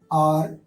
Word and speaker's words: hour: उसके बाद ओ आता है तो उम्मन ये साइलेंट हो जाता है, हमेशा नहीं। ऐसे में क्या होता है, आर, honest, ऑनर्ड, HEIR, higher.